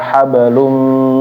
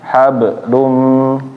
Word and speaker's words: حبل: Fi jidiha hablum mim masad. Nah, jadi ketika membaca fi jidiha hablu jangan hablum. Fi jidiha hablum.